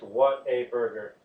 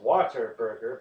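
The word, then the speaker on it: Whataburger: of 1950 water burger which is phrased what a burger water burger most people pronounce it as water burger but no they do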